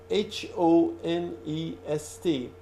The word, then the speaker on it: honest: honest you write it h o-- n e st but H is silent you don't pronounce it you say honest not